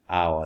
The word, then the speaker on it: hour: apple, an elephant, an hour. An hour stands with H, but we don't pronounce H as an hour. We say an hour.